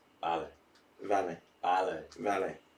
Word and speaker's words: vale: Vale. Vale. Vale. Vale. Vale. It's a V. It's a V. It's but a V. you pronounce it as a V. Well, I say vale. That's wrong. It's vale.